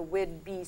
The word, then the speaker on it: Whidbey: And we did give you the pronunciation there, because it's the Whidbey, spelled B-E-Y, but people mispronounce it, so we wanted to be sure that you got it right.